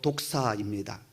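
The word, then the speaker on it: δόξα: 여기 영광은요 헬라어로 독사입니다. 우리말 뱀 독사 있잖아요. 그와 비슷한 발음이 독사예요.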